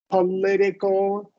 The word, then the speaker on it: political: We haven't covered syllables, but when it's politics, when a verb ends, a word ends in IC, the syllable before will get the emphasis. Politics, political.